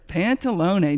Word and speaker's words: Pantalone: Pantalone. Nate and I, Troy and I were trying to figure out how to pronounce that.